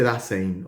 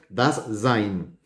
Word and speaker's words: Dasein: Se dice Dasein, o se escribe Dasein y se dice das Sein.